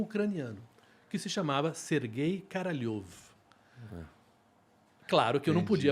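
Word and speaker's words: Королёв: que se chamava Sergei Karalyov. Claro que eu não podia Entendi. falar Karalyov. Em russo se escreve K-O-R-O-L-E-V. Mas em russo, o som, a letra O, quando ela não é tônica, ela vira A.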